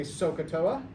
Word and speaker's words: SOHCAHTOA: here's what it is it's s o h and it's a so it's a long o it's k and it's a soft a and it's toa soft a okay so everybody say sokatoa what does the so